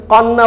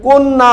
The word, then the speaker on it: কন্যা: কিন্তু কন্যা বলি না, আমরা কিন্তু কন্যা বলি। কয় ওকার দিয়ে আমরা উচ্চারণ করি, কিন্তু আদ্য অ এর পরে জ ফলাযুক্ত ব্যঞ্জন আছে, এই কারণে আদ্য অ এর উচ্চারণ আর অ এর মতো থাকছে না, ওকার হয়ে যাচ্ছে, কোন না।